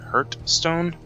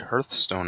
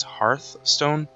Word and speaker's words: Hearthstone: the correct pronunciation is hearth stone um because it brings together two words Hearth and then Stone I think it's 14th